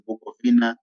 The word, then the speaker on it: Bukowina: Bukovina was it's pronounced as Bukovina, but written as Bukowina. Bukovina was because W in German and in the Dutch is pronounced as V.